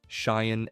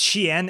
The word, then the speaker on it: Shien: Form 5, Cheyenne and DM So. Oh god, the pronunciation is so horrible. It's Shien and Gemso.